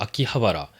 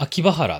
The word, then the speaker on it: 秋葉原: え、正しい読み方は秋葉原なんですけど、ま、秋葉原っていう人も結構多いと思います。